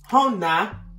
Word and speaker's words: Jona: And Hona. Hona? I think they said the J is silent.